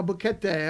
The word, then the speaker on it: Boquete: I mean, Boquete. Rhymes with you know. spaghetti. Spaghetti. Boquete.